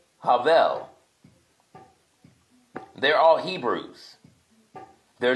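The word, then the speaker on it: הבל: name in Hebrew kayen his brother Abel is Havel they're all Hebrews they're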